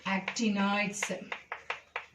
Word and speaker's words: actinoids: This one, actinoids. So pronounce properly, lanthanoids, OIDS, actinoids.